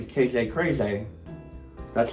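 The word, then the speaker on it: Kragay: is also a KJ his name is KJ crazy that's how he says it's pronounced because it's it's spelled k-r-a-g-a-y so I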